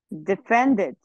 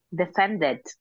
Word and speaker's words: defended: Defended. Defended. Agrega una sílaba, ¿no es cierto?